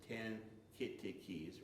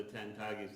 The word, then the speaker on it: Tintagis: with you that that pronunciation is very important, because people look at it, it says Tan-Kittikis, right? And but the last of the Tintagis that we know about is the Sachem who passed away, and before he died he told me that it's Tintagis, and tell everybody that he wanted it pronounced right.